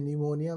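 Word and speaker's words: pneumonia: का कांसेप्ट नहीं होता जैसे निमोनिया में पी साइलेंट होता है कुछ ऐसा नहीं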